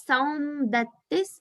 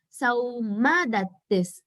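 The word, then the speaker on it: Saumadatti: So I heard it as Saum Dattis, but it is Sauma Dattis. It might be like that in Hindi. I don't know Hindi, so just saying Sauma Dattis.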